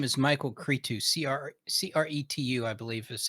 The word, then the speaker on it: Cretu: the the the the artist's name is michael cretu c-r-c-r-e-t-u i believe is how you pronounce it um he's put out a bunch